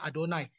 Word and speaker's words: Yahweh: nama Tuhan sendiri yaitu Kalau ditulis Itu kan Yahweh tapi kita bacanya adonai berarti ini menunjukkan bahwa